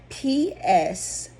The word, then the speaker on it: Pseudomonas: Yes, the P is silent.